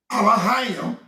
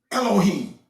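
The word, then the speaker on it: אלהים: No, I'm pronouncing it with an A, not an E. Alahayim and not Elohim.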